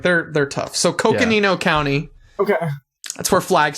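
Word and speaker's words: Coconino: Uh, Cocoino, Arizona. Yes. Good job. Let's go. Cocoino. So, we'll start with that. It's I'm I'm giving you some grace on these cuz like they're they're tough. So Cookanino County.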